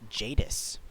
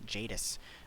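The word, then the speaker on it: Jadiz: bismol enor pearl and that is pronounced jadis yes confirmed jadis um do not sell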